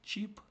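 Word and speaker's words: cheap: Пам'ятаєте оце як читається? Як чи, правда? І е в англійській мові читається як довга буква і. І що в нас виходить? Чіп.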